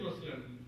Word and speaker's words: Muslim: to avoid that and some people even spell it with M Oz because they want to pronounce it exactly as it sounds uh so I'd like to suggest that uh if you hear people uh use that expression uh help them understand that Muslim is the correct uh pronunciation now let me